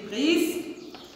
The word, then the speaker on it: prise: Regardez comment j'écris prise. P, R, I, S, E. La même chose ici. On a S entre deux voyelles. C'est pour cela elle se prononce Z et pas C.